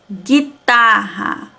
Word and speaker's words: guitarra: Guitarra. Se não tivesse o U aqui, ia ficar o quê? Guitarra. Mas como tem U, é guitarra. Mas também não pronunciamos a vogal U.